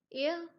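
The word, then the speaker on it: heir: अब ये बिल्कुल एक आर्निकल लाइन है कि एक हेयर क्या होता है, हेयर यहाँ साइलेंट है, एयर बोला जाएगा, इसका एग्जैक्ट प्रोनाउंसिएशन होती है एयर।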